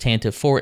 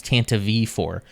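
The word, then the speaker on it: Tantive IV: drama makes it official it's not pronounced Tanta 4 it's Tanta V4 but the Star Wars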